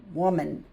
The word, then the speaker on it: woman: Woman. And this is a schwa sound. The E is making the I sound and this is making the U sound.